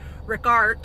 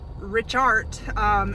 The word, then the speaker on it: Richat: a natural looking structure it's called the Rick got structure if I'm pronouncing it right some people say it regard some people say richhart it said a couple different ways but it's spelled RI